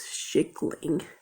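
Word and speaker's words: kyckling: That's not pronounced how you'd think it would be pronounced either. It's schickling, which is chicken.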